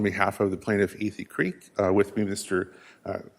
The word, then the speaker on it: Athey Creek: uh the church and it's Ethy Creek. A Creek. Okay, I've been mispronouncing it.